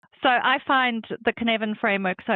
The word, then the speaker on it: Cynefin: I will try to pronounce it correctly. I think it's Cynefin. The Cynefin framework, yeah.